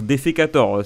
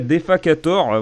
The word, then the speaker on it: Defacator: Souvent j'ai lu son titre Defecator, ce qui est pas incroyable en termes de bon goût, mais ouais, Defacator, voilà, je le prononce bien pour une fois.